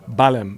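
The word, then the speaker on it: Belém: Do I have that pronunciation correct? Balem. Okay. Balem.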